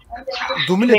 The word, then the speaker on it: Dumile: Dumile Thompson. Dumile diye okunuyor. Gerçekten Dumile diye mi okunuyor bu arada ya? Ben öyle biliyorum. Hani o Afrika dilinde, Afrika dillerinden birinden olduğu için kelime.